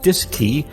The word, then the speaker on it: DSKY: digital display and keypad known as the dsky pronounced disk key on board both the cm and lm mission